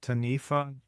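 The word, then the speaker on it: Taniwha: The chapter in Snake Talk about Tanifa, is that how you say it? Tanifa?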